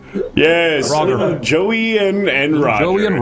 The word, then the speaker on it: Roger: Roger with a hard G. Yes. Roger.